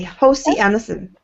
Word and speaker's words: Hans Christian Andersen: is a good set Hans Christian Andersen is how you say I'm properly Hosty Anderson and I've got I